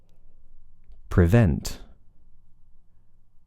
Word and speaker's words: prevent: second but present Prevail prevent presume it's a really short vowel it's very very weak isn't it but it it is an i v pre presume now of